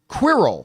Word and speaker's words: Quirrell: However, this character is, God forgive me, I'm not sure I'm going to pronounce this right, Quirrell. Yeah. Did I nail it? Quirrell, yeah.